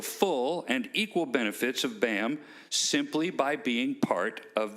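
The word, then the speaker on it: BAAMT: thing as a ps how do you pronounce b-a-a-m-t and just say bam the t is silent if you want any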